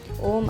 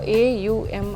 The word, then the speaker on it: ಓಂ: ಇದರಲ್ಲಿ ಮೂರು ಅಕ್ಷರಗಳು ಇದಾವೆ ಸೋ ನಾರ್ಮಲ್ ಆಗಿ ನಾವೇನು ಓಂ ಅಂತ ಹೇಳಿ ಹೇಳ್ತಿವಲ್ಲ ಸೋ ಇದು ಪ್ರಾಪರ್ ಅಲ್ಲ ಅಂತ ಹೇಳಿ ಹೇಳ್ತಾರೆ ಸೋ ಎ ಯು ಎಂ ಅಂತ ಹೇಳಿ ಏನು ಅಕ್ಷರಗಳು